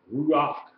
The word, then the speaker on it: ruach: So we have ru and then we pronounce the a and we have a head there which is a c. So ruach ruach. No, it's a hat. Yeah, remember has a ch sound.